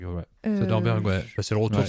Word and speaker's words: Soderbergh: Et de Soderbergh, j'arrive jamais à prononcer son nom, c'est ça, c'est Soderbergh, ouais. Soderbergh, ouais.